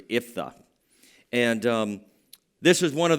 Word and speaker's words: Jephthah: It's actually, if you pronounce it in Hebrew, it's Iphthah.